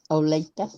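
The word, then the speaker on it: Olathe: are you talking about oh latha olegda it's spelled o l a t that's a lathe not a white just like the county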